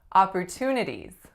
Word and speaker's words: opportunities: hear with this word it is the sound that belongs on the first syllable so listen when I say opportunities what sound am i making I'm making that low back vowel oo as in off what I usually hear